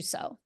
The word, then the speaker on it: sow: Reap as you sow Okay, would be reap as you saw. Okay. sow. So, Yeah, SOW. SOW. Yeah, Gotcha. pronounced the same as SO.